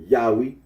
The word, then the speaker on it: Yahweh: the name now yahwe the scholarly consensus is that the original pronunciation of the tetr was yahwe Oro agrees that when